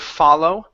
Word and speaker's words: follow: a good job yeah so make sure you don't go wide with the word follow if you go wide it turns into fat if you go down or long or open okay that gives you an aw ok and that's what you want to use ok nice job thank